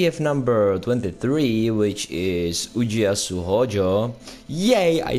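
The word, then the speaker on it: Ujiyasu Hōjō: Today we have number 23, which is Ujiyasu Hojo.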